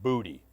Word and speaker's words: Boutte: there's kids from Westgate it's Josh booty but it's it's spelled b-o-u-t-t-e which is like Mark Boutte who used to play for LSU in the defensive line but there's no relation and it's not Josh